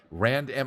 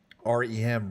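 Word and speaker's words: R.E.M.: and the wrest match okay sorry Rand M I assume you r m sorry for mispronouncing it r m R um RM pretty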